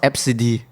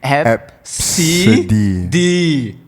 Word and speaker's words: Abcde: And it's pronounced Epsidi. ABCDE. Epsidi.